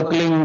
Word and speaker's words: क्लीं: की मात्रा और बिंदी, उसका उच्चारण होगा क्लींग गा की ध्वनि निकलेगी पीछे।